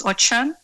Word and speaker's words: Ochan: I was just saying my surname is Ochan, so it's pronounced with an H.